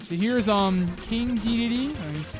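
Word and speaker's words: King Dedede: All right, so here's King DDD. That's how you pronounce his name.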